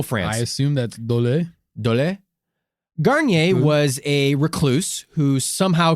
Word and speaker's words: Garnier: with this pronunciation delays garnier garnier yeah like this like the shampoo garnier was a french